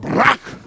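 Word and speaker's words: ברך: every church say Barack say a little spit in your throat Barack you got to say it like that Barack Barack simply means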